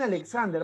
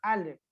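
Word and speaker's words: Aleš: Alex, algunos le dicen Alexander, van a encontrar en algunos libros como Alexander, eso está mal, es Alex. Herrika, ¿ya?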